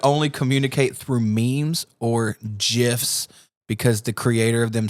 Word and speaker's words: GIF: The creator says GIFs, but they're spelled like GIFs, GIFs. like because it's GIF. So everybody gets mad when you say GIFs, but the guy that created them called them GIFs, like a J, but it's spelled with a G.